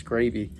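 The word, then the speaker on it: scrapie: tac scraby tags in sorry i've mispronounced that every time it's scrapy i believe but we got them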